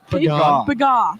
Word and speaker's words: Pagan: Now, how do you pronounce her last name? Pagan.